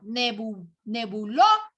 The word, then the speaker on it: nebuloso: Veo nebuloso. Aquí está la mayor fuerza de voz.